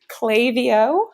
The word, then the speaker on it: Klaviyo: that for the record, it is Klaviyo, okay. Like clay, the letter V, letter O.